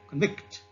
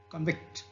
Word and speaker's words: convict: And the noun convict into a verb like convict. Okay, convict.